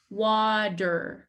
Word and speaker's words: water: go into tea but in american english it does not sound like te it sounds more like a d wad wad wad you